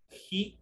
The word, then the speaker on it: he: de la tercera es he is. Esta es una H aspirada y en el momento de pronunciar se transforma o se le pronuncia como una J. Por eso lo digo he is.